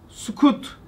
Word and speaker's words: sukut: Cennet gibi bir makamdan rüyü zemine muvakkaten sukut etti. Sukut. İndi. Sükut noktalı değil de belki ifade telaffuzunun yanlış olmasın. Susmak değil. İndi.